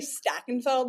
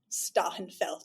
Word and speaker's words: Stachenfeld: I say Stachenfeld with a nice New Jersey accent, but I think it's really like Stachenfeld.